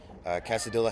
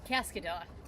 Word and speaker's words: Cascadilla: This team name, is that Casadilla? Cascadilla. Cascadilla. There we go. All right, we got corrected. Cascadilla. It's extra C in there.